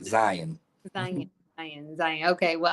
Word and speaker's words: Zion: Do I be saying your name wrong? I say Zion.